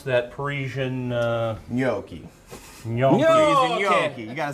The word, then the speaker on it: gnocchi: Kevin and I both said it differently, but how do you pronounce that Parisian? Gnocchi.